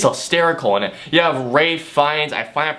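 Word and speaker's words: Ralph Fiennes: is yeah he's hysterical in it you have Ray fees I finally pronounced his name correctly you have yeah you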